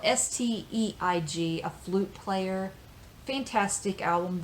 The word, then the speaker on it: Steig: Here is Bill Evans with Jeremy Steig or Steig. It's spelled Steig, a flute player.